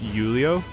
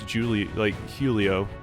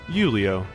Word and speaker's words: Julio: name like that, because your J is basically silence, you're just Julio. But I always pronounced this as Julio. So, Julio.